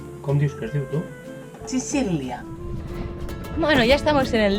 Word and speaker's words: Sicilia: Viva Chichilia, ¿eh? No, Chichilia no es di Chichilia. Algún italiano que nos ayude en la pronunciación. ¿Cómo Dios tú? Chicilia.